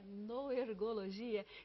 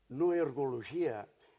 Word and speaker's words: Noergologia: que todos nós usamos no ergologia é uma palavra difícil de você pronunciar no começo porque nós costumamos pronunciar com muita frequência palavras como Neurologia Neurologia então no ergologia é uma